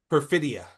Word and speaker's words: Perfidia: And I was confused for a second because Tiana or per Perfimidi, sorry, I keep forgetting how to pronounce her name. Perfimity? Perfidia.